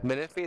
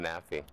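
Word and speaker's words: Menifee: Meny. That's how you say it. I'm an idiot. All my life I thought it was manafi. There's no a. It's m e n i.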